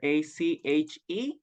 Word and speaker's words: ache: Remember that this part of the word that is ache, oops, with letter A-C-H-E, the pronunciation is ache, ache, okay?